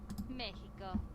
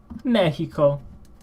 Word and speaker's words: México: And as well as México. Mexico. Remember, it's not the English Mexico, it's the Spanish México.